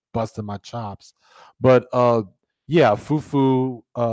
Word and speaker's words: fufu: my chops but yeah foo foo pronounced fu I'm sorry spell fu